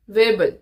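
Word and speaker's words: Weibull: Sixth one is your willing वेबल। वेबल वेबल distribution. कोई इसको वीबल बोलता है, कोई इसे वर्बल बोलता है। It's totally up टू यू। हाउ you pronounce.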